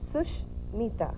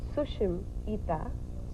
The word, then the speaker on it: Sushmita: Well, like I said, there are two ways you pronounce it. The first way is Sushmita. Okay. Sush means good. Okay. Mita means friend, a good friend. Okay. And if you pronounce it the second way, which is Sushim Ita.